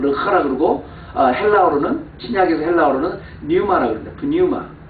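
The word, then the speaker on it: πνεῦμα: 그러니까 pneuma인데 푸는 이제 묵음이니까 보통 뉴마라고 그래요.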